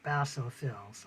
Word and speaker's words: basophils: about the basophils and you can pronounce that Basso fils so okay the next